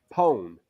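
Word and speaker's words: pone: opaque am i saying it right it's okay poem oh okay p-o-n-e poem really that's what a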